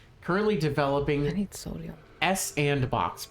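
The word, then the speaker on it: s&box: I need sodium S andbox pronounced Sandbox, which is supposed to be a successor to Garry's Mod.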